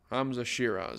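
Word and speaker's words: Hamzah Sheeraz: Hamza Shiraz, that's how you pronounce it.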